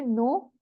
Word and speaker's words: know: नो means जानना, KNOW, नो. इसको हम पढ़ते हैं नो.